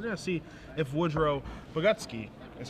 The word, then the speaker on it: Bogucki: So we're going to see if Woodrow Bogucki, is how it's pronounced, is going to be giving, what kind of beatdowns is he going to be giving this turn?